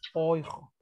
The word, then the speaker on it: Euro: Porque recuerden que la I y la U se pronuncia hoy, como en Deutsch. Hoy. Ya. ¿Qué no? Por eso también aquí en euro, oijo.